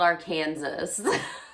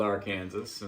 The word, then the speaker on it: Arkansas: It's not called Arkansas. So many British people think it's Arkansas. It's spelled Arkansas. It is spelled that way. It's a legitimate thought that it would be said that way, but it's called Arkansas, and it's basically northern Texas.